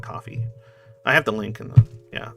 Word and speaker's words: Ko-fi: takes like almost nothing it's spelled like Kofi but it's like coffee I have the link